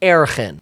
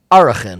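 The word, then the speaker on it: ערכין: Or there's a mesechta called erchin. And it is properly enunciated Arachin, yes.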